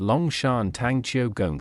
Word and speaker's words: 龍山堂邱公司: is the clan Temple fully known as Leong sanong kongi pronounced as long Shan Tang Choi in Mandarin this translates to Dragon